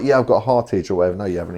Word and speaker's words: Hartge: When I bought it, and I thought, right, I need to do some research on what Hartge is.